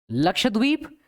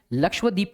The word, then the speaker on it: लक्षद्वीप: एक तो बहुत बार मैंने देखा है बच्चे प्रोनाउंसिएशन ठीक नहीं करते हैं, लक्षद्वीप कहते हैं. लक्षद्वीप नहीं है, इट्स लक्षद्वीप.